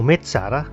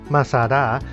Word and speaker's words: Masada: Masada, or Metzada, pronounced Masada, means fortress and was